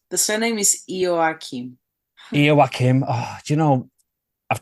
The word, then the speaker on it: Ioakim: fresh chat big warm welcome to Miss Elena aakam I'm hoping I'm getting that right Missy almost